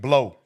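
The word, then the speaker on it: Blough: Some dude named Blow. And it ain't spelled like B-L-O-W. It's spelled like B-L-O-U-G-H.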